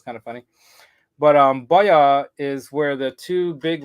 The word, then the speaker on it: Baja: my mom's hometown of baya which is pronounced like baja or spelled like baja and it's actually in the south of hungary too so it's kind of funny but um boya is where the two